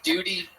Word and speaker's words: duty: bear it is pronounced it is pronounced um with a liquid U Duty oh Duty no duty